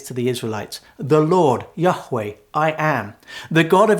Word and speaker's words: Yahweh: It's 4 letters in the Hebrew, YHWH, and we believe it's pronounced Yahweh.